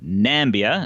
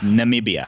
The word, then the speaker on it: Namibia: country that Donald Trump code nambia it's Namibia that's right that's right like